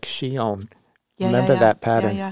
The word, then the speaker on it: Chillon: And if you look up in the newsletter, I think we did a release of Shion, which is spelled Chillon.